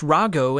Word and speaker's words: Rahu: Behind These two names rahu pronounced Rago in Japanese is one of the